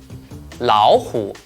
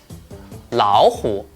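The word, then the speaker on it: 老虎: When 2 third tones are combined together, the first one will change into the second tone, which is a rising tone. For example, 洗澡，洗澡，老虎，老虎，勇敢，勇敢.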